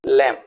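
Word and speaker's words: lamb: एल एम बी ले य बी को साइलेंट रखा गया है तो इसको बोलेंगे लम थ नेक्स्ट वर्ड इज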